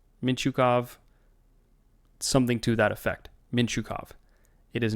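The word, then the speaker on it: Mintyukov: it is not pronounced mint Yakov why the hell would it be pronounced Mint or sorry mint like the silent T it's a Russian name that sound doesn't exist in that language hey if there's any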